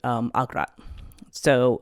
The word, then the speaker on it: Agrat: it, and then she engendered Agrat, or Igrat sometimes, or sometimes even Ogri or Ograt. There's other variations of this particular word, this particular name, and